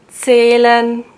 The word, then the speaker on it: zählen: And oh yeah, the H, you don't pronounce the H if it's after a vowel. For example, zählen, führen, Lohn.